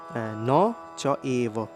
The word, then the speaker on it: ন চৈব: পরের লাইনে লিখা রয়েছে ন চৈব ন চৈব চৈবর উচ্চারণ আপনারা করতে পারবেন চোগ এব অর্থাৎ অ যোগ এ মিলে ওই উচ্চারণ হয় আপনারা হয়তো যুক্তবর্ণে পড়ে থাকতে পারেন ন চ এব ন চ এব ন